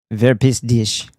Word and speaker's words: Verpiss dich: "Wer pisst dich?" Is how it's actually pronounced.